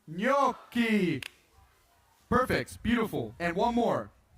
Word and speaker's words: gnocchi: Being not gnocchi or gnocchi, just gnocchi. Gnocchi. It's pretty easy, just gnocchi, like G-N, gnocchi.